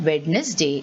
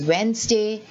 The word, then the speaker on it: Wednesday: of us say wednesday but it is not wednesday it is wednesday sandwich handsome so you